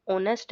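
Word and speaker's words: honest: तो देखो यहां पे जो ऑनेस्ट है ओ से स्टार्ट हो रहा है। मतलब साइलेंट है यहां पे एच और जो ओ का साउंड आ रहा है। इसलिए ये क्या है? ये एक वोवेल साउंड दे रहा है हमें।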